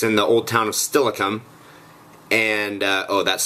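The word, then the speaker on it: Steilacoom: spooky happenings it's in the old town of stilikum and uh oh that's spelled s-t-e-i l a c o o m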